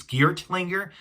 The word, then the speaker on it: Geartlinger: pronouncing this differently um a lot of people use um a a hard t sound for this thing which is geared to linger but i'm going to pronounce it as geared linger because well basically you know i'm using the soft t sound i think yeah yeah